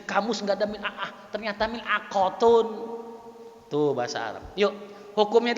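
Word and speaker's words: ملعقة: Orang Saudi kira-kira gimana bacanya? Mil'aghatun. Mil'aghah. Kalau Mesir mil'a'ah.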